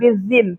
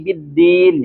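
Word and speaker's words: بالدين: Jangan bizin tapi biddin.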